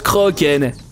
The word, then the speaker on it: Kraken: Non, bah l'homme craquant, l'homme Kraken. Ça se prononce Kroken.